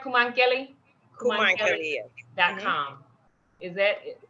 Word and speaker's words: Koumankele: Kumankeli?